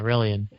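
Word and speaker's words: Rellian: He played Relian. Relian, is that how you pronounce the character? Yeah, Relian.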